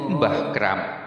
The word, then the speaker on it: Kramat: In addition, the title Mbah Kramat is also one of the titles attached to him. The title actually comes from the Arabic language, namely Shohibul Karamah, but in Javanese pronunciation it becomes Mbah Kramat.